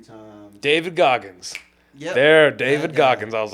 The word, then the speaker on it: David Goggins: I read Donald Goins, I think I'm saying his name wrong, right?